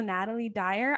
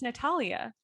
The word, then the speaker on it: Natalia Dyer: i was thinking um i always thought her name was a natalie dyer i think it's natalia um and so i've just been saying it wrong in my head my whole life but it's natalia dyer because i've looked at pictures